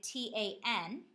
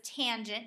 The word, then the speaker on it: tangent: the hypotenuse and finally tangent abbreviated t a n you would read this as tangent not tan the tangent of an